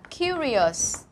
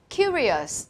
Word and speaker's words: curious: Tiếp theo mình có một tính từ khác, nó là curious. Curious, trọng âm và âm đầu đọc lại này.